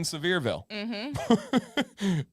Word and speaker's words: Sevierville: On the same road, you end up in Sevierville.